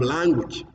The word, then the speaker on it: language: And then you have language. Language, not language. Language. That is a pronunciation.